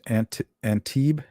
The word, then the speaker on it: Antibes: Antibes, France, pronounced Antibes.